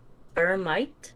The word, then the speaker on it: Piramite: i'm going to uh there's a lot of pronunciation for my name in french or english but i can say in english vermite this is my